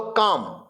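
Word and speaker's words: calm: बोलो काम. बोलो क्या? काम. साइलेंट क्या है? L.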